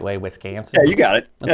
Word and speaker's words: Wisconsin: It gets the right way, Wisconsin?